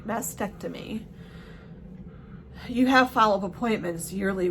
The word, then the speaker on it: mastectomy: And I don't think, so like when you have a mastectomy, I never pronounced the other T, mastectomy.